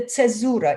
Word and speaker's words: caesura: And this is the repetition which happens in the cesura. If you know what, well, I pronounce it in a Russian way, cesura, which takes place in